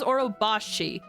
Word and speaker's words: Orobashi: How it's pronounced. Orobashi, I believe? That is Orobashi, which is a giant snake.